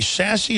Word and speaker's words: SAS: Do you say sassy or you say sassy? It's sass.